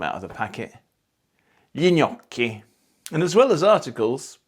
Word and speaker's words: gnocchi: And the same thing happens with GN, pronounced gna. Lo gnocco, I'm not taking them out of the packet. Gli gnocchi.